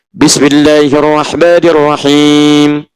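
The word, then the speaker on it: بسم الله الرحمن الرحيم: Bismillahirrahmanirrahim. Ujungnya i, tapi dibacanya him.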